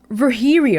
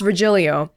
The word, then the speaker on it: Virgilio: you look winded Virgilio it's pronounced ver here e oh no I'm pretty sure it's Virgilio you said as much the